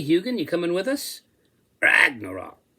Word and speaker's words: Ragnarok: "Ragnarok," he said, accenting the first syllable.